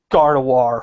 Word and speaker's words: Gardevoir: Gardevoir, fucking... Get your fucking shitty French pronunciations out of here. There's a fucking V in that name, goddammit. You Also, pronounce it with a V.